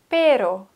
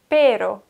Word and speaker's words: pero: Rollen el perro perro mit einem R rollen wir viel sanfter pero pero perro pero und da musst du